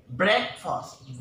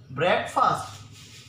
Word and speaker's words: breakfast: another word spread fast many people tend to pronounce it as break fast ok if breakfast breakfast his breath breath breakfast it's not break fast it's breakfast okay breakfast